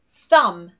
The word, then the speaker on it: thumb: So when the final two letters of the word are MB, we do not pronounce this B. Lamb, thumb, comb, no B.